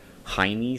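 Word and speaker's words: Heinie: And the sights there, one thing I'm probably going to change, this does have, and I always mispronounce this, it's Hiney Sights, I believe it's how you pronounce it.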